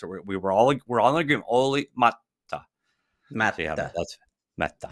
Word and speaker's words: Olli: As you know, I also wrote a story on Olli Määttä, as he pronounced it, by the way.